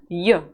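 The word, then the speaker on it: ё: the sound and the various words will be yo let's go on with the reading practice the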